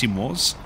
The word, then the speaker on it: CMWS: Uh, and we also have the CMWS, pronounced SIMOS, and that's the common missile warning system.